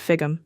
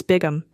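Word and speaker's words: Bigum: fum no Mr Morrison the name is not fig it's bigam big as in great big I extended my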